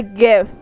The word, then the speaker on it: GIF: also get um a gif to put over here gif jeff hiffler however the you say j i f that's how you pronounce it it's g not a j m g i f